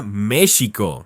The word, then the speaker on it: México: En su origen Nawatle, México, se decía México, con una esishi que evocaba el sonido del viento.